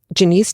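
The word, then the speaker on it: Janeece: goodness you really should check this out it's Janice design studio and that's spelled j a n e e c e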